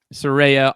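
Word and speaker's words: Saraya: and Britt Baker are set to take on suraya is that how you say it yeah Soraya on and a mystery partner on January 11th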